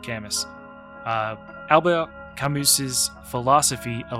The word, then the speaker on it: Camus: the French philosopher and I'm probably going to butcher this but I believe it's pronounced Albert kamus however in college we just said Albert cus uh Alba camus's philosophy